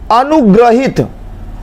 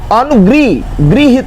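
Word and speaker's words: अनुगृहीत: अब देखिए ये भी क्वेश्चन बड़ा फेमस है, अनुग्रहित, ग्रह नहीं होता, ग्रह, अनुगृहित होता है, ये शुद्ध है, ये ग्रह नहीं, ये गलत है।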